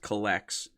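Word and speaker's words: Cullx: kind of help with uh pricing called it's pronounced collects uh c-u-l-l-x uh but it's pretty much just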